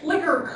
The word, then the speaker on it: Flicker: this is something called Flicker and I have misspelled it I always misspell it it is flicker with an E not without an e I'm sorry this is